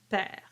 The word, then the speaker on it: perd: word that follows, l'île perd. So you connect all of that. It's called the liaison. Par-dessous l'île perd. The R is rolled, but the D is silent.